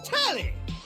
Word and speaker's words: Telly: Okay, the name's Telly rhymes with Nelly.